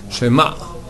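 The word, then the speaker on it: שְׁמַע: Alors d'abord, c'est pas Shema, mais c'est un Shvana. Un Sheva qui est au début d'un mot, on l'entend comme la moitié d'un tséré. Tséré, Shema, d'accord? La moitié du temps d'un tséré, c'est le temps d'un shvana. Shema, pas shema, mais shema. Maintenant avec Ain, Shema, et pas Shema, d'accord?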